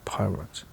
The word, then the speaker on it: Poirot: Monsieur Poirot. He corrected her with an emphasis on the last syllable.